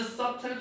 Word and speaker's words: subtle: This subtle progress 이러한 subtle 뭐야? 미묘한 B가 묵음이야. subtle이 아니야.